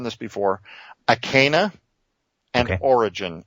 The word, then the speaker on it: Orijen: Origin. It's spelled with a J, Orijen.